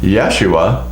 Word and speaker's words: Yeshua: the son of alphaeus there's an unusual pronunciation also in hebrew which they say yerushalayim for jerusalem yeshua for jesus judah for judah and judah ben jayakov judas